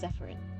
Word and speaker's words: Zephyrin: I think it's Zephyrin. Yes, the sailor said easily, hands steady on the tiller, eyes glowing faintly, bioluminescent blue. That is my name. It rhymes with seafarin.